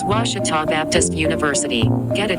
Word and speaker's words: Ouachita: for Washita Baptist University back in Texas everybody pronounces it Wichita but really it's Ouachita Washington how would you pronounce it it's Ouachita Baptist University get it right it's Ouachita people it's Ouachita Washington I'm Nicole Auerbach from